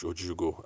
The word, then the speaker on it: Ojiugo: Sorry, Ojiugo. That's Ojiugo. I've always called it Jugo. And anyway, so she had to correct me that I've been pronouncing the name wrong.